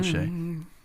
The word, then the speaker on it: Che: she uh had some jokes for Michael Shay Shay is that how you say it yeah Michael Shay it's very very late for me on Saturday